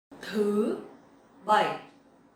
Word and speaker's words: thứ bảy: Thứ bảy. Thứ bảy. So this word is a little bit hard to pronounce correctly because it has dấu sắc and dấu hỏi.